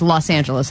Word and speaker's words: Los Angeles: I say LA, but in my brain, it's so awkward because it's like I'm pretending to say a Spanish word. But you're whiteifying it. Right. Yeah, exactly. Because that's what everyone has accepted, is Los Angeles as the pronunciation.